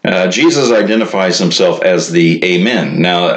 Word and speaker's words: Amen: identifies himself as the Amen now Amen is actually from a Hebrew word that's originally pronounced I mean and it's the word